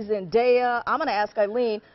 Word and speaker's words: Zendaya: their kids so here's the correct way to pronounce her last her first name Zena Zena and and and that's okay Paul because I had been calling her Zenia up can apologize sorry that's okay is long